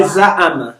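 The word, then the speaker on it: زعم: You can say za'ama. Just Za'ama. no, we don't say ain is the name, Oh. but it's pronounced as a.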